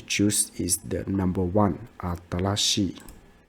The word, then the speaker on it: 新しい: one, the pronoun like aradashi. So the pronunciation is similar. It's very similar. But the correct one is the number one. Atarashi.